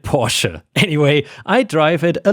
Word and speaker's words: Porsche: way Guys small reminder it's actually not pronounced Porche you should call it por anyway I drive it